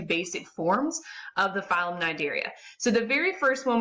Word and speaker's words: Cnidaria: And if you notice in the picture, phylum Cnidaria, and the C is silent, so Cnidarians, encompass our jellyfish, our sea anemones, and our corals.